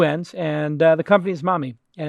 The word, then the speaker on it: Mahmee: And the company is Mahmee, and it's phonetically spelled, because that's a great way to get a killer domain.